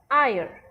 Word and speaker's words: heir: Then an heir, heir is someone who inherits your property or something. So we find that this is silent, but we pronounce it in this way, an heir.